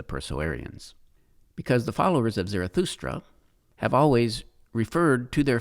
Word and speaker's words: Zarathustra: zerra belongs Zoroastrianism is based on a Greek mispronunciation of the prophet's name zarathustra whom the Helen referred to as zoroaster so the term Zoroastrianism